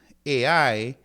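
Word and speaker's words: αι: So AI, you pronounce it like isle. So it's like the AI in isle.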